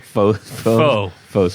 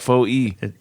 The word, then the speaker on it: faux: It's Why is it FOE? It's It's not. not. It's French. FAUX. Are you seeing FOE here? No, I meant that. Well, that's how you say it. Yes. Yes. Faux is French for false.